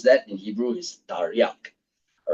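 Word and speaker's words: תרי״ג: r y and gim okay and when you pronounce that in Hebrew is Tarak all right yeah and when you add the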